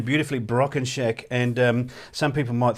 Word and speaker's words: Brockenchack: in a weird way so and and you pronounce the name beautifully broken shack and um some people might think that that's